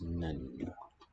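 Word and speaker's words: 는: all it says this third syllable it begins and ends with the same consonant nun and that's what's shaped like an l there in this in the script here we would type here n-e-u-n and that gives nin topic mark yojanin the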